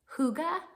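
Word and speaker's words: hygge: Danish it's the um it's spelled h y g g e Huga I think it's pronounced but it's the art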